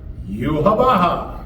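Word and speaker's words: Yhwach: written out in the manga YWACH, but it's pronounced Yuhabaha.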